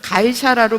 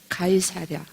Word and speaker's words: 가이사랴: 그러니까 사도들이 이 사람을 가이사라로 보내요. 가이사라, 이 5번이죠. 5번에 뭐라고 적혀져 있어요? 다소행. 예, 가이사라로 왜 보냈느냐 하면, 발음 잘 안 되네. 가이사랴.